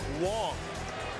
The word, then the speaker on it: Wang: this is Chin Ming Wong spelled Wang but pronounced Wong and this guy is